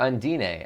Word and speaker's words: Undine: Let's get a marker in here for Undyne, or Undine, as they pronounce it in this game.